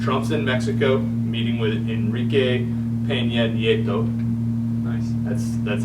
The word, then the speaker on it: Enrique Peña Nieto: Trump's in Mexico meeting with Enrique Peña Nieto. Nice. That's how it's pronounced.